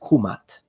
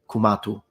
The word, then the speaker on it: Kemet: So if we really want to be precise, then the correct and most likely pronunciation in ancient Egyptian, specifically in classical Egyptian, is kumat, kumatu, nominative, kumata, accusative, and kumati, oblique genitive.